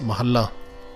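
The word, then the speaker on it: ਮਹਲਾ: have to call it mahela jyoti which doesn't really happen and which doesn't really make sense if you look at gurbani so what we need to remember is the word is pronounced mahala and when it says uh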